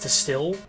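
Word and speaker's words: STIHL: Still, S-T-I-H-L, is that how you say it?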